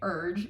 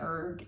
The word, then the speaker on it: erg: Because Avi's saying urge, U-R-G-E, and I'm saying erg, E-R-G.